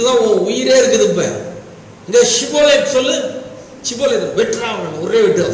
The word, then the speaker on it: Shibboleth: ஷிபோலேத் சொல்லு, சிபோலேத் அப்படின்னா தப்பு.